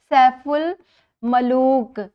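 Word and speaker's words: سیف الملوک: इसी तरह एक और लफ्ज़ आया है आपके सबक में, सैफुल मलूक, जो कि एक झील का नाम है, इसमें भी अलिफ और लाम दोनों साइलेंट हैं।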